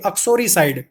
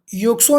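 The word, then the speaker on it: uxoricide: अक्सोरीसाइड। युक्सो नहीं बोलेंगे इसको, आपका प्रोनाउंसिएशन बहुत क्लियर होना चाहिए।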